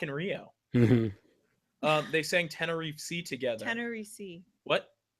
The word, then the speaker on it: Tenerife: They sang Tenerife together. Tenerife. What? It's called Tenerife. Isn't that what I said? No, you pronounce the F. You just stop pronouncing letters eventually in that word.